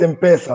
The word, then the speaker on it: M-Pesa: across africa is the um in pesa and i might be saying it wrong then pesa and the mobile banking right yeah it's in peso it's called mobile money